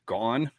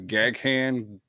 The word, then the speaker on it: Gaughan: My last name is spelled Gaughan. It's pronounced Gone, just like Vaughn, but with a G. And when I was in the Army, I got Gaghan, Galgan, and then my favorite was Gun.